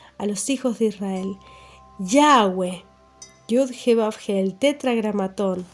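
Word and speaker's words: Yahweh: significa la palabra yud jeab ge que se pronuncia como yahwe es yud jeab Y esto es lo que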